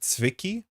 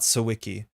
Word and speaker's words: Zwicky: Oh no, it's still not a short I in Zwicky. The main difference is how you've been saying is that it's a sharp Z. So think Zwicky, not Sawicki.